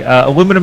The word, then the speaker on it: aluminum: crossword um let's see aluminum is correctly pronounced the american way says because there is no i before the second u he's correct and uh